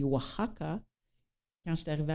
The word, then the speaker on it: Oaxaca: Oaxaca, ça s'écrit Oaxaca avec un X. Ça se dit Oaxaca.